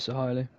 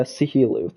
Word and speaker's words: Sahili: People call me. I don't know why. I think Ginger started it by accident, but I pronounce it Sahili. Sahilu, okay. I was calling you a Sihilu throughout the race, so